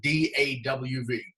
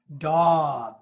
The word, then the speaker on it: Dov: do V but pronounced if English is your first language pronounce it D awv dog dog yeah there's no no wings all right no wings so no e okay no duh it's dog you're gonna see that's